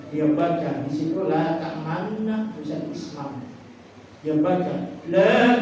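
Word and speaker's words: تأمنا: Membacanya mulut dimonyongkan, seperti mengucapkan waw. Dia baca di situ la ta'manna, tulisan isma.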